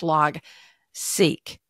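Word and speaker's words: Logseq: LG seq but pronounce log seek okay seek stands for sequence so that's why we pronounce it that way so it's open source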